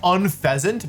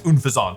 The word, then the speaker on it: Unfezant: I guess I should say, first of all, people keep telling me that this Pokemon is pronounced Unpheasant, but I mean, I think it's Unfezant, so I don't agree.